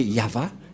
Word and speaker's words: Yahvah: de yava et la prononciation de y h V he selon les hébreuxes c'est yava et personne ne peut